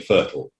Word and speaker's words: FRTOL: glider pilots getting a fertile that's how we pronounce that acronym um and there are